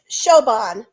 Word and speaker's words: Siobhan: name is it it did you say it like shoban yeah shoban sioban yes those names are well